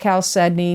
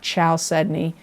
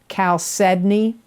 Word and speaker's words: chalcedony: for aries is chalcedony it is pronounced chalcedony not chow sydney it's spelled c h